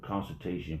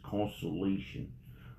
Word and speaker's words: consolation: I remember saying consultation, but it's consolation cons.